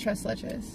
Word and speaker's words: tres leches: It's pronounced tres leches.